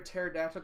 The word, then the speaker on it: pterodactyl: you can't hear a pterodactyl go to the bathroom hi Rob cuz the P is silent so funny nothing cool